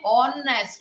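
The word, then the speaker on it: honest: कुछ वर्ड्स ऐसे होते हैं कि जैसे ऑनेस्ट बोलते हैं, है ना, तो ऑनेस्ट स्पेलिंग H से शुरू होती है मगर अपन बोलते हैं ऑनेस्ट, O का उच्चारण होता है, तो उसके अंदर ANN आता है।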